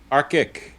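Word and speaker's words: ARCIC: do you say that George aric like the AR like Arctic but not with no tea in it well and I I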